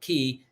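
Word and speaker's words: Caye: Key is spelled C-A-Y-E. C-A-Y or K. People say K, but Key, C-A-Y-E, Key International Bank, and that's in Belize.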